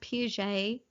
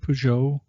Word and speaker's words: Peugeot: I think it's pronounced Piaget. Piaget, does that sound right? Why? I might have thought of Peugeot.